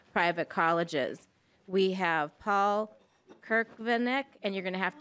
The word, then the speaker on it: Cerkvenik: Cerkvenik. I was doing an I at the end.